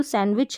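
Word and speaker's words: sandwich: विच और सैंडविच में तो यहां पर देखेंगे जो सैंडविच है यहां पर जो डी रह रहा है यह साइलेंट रहता है सैंडविच में येद याद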